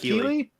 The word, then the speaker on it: Keighley: Jeff Keighley. Okay. He's the guy that hosts the video game awards. Oh, what? He's the guy that hosts the video game awards. Jeff Keighley.